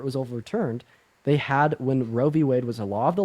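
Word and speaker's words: Roe v. Wade: here first of all it's not called rad and Wade it's called roie Wade and second all pronouncing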